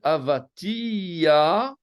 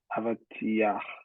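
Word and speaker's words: אבטיח: Non, c'est un patach furtif. Le patach, c'est le A en dessous. Hein. Ce qui veut dire que partout, vous prononcez d'abord la consonne et puis la voyelle. A, V, A, T, I. J'exagère évidemment. Sauf à la fin.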